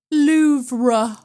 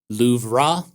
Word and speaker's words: Louvre: The R-E at the end of the word is not the emphatic syllable, but it sure as hell is there.